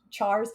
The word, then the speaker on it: char: Drunko Grim says, wait, it's pronounced cars and not chars. Oh, cars versus chars. Yeah, I say cars, like with the CH as a hard cup. But yeah, I've heard it both ways, honestly. Chars versus cars.